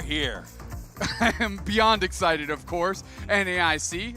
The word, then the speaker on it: NAIC: Beyond excited of course niic is pronounced nice and that's exactly what